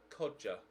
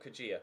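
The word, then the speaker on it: Kodjia: that's a lie vilifying he's pronounced codger codger not cugir codger Thank You Brennan Jonathan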